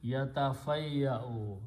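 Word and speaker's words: يتفيأ: Now, whenever we have a Hamza, it needs a chair, so we put a Waw underneath, which is just a sitting chair. Don't pronounce Waw, nothing.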